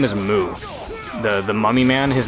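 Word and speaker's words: Mū: point out it's it's it's moo but it's spelled like mu with the U having like the line over it and the fight's over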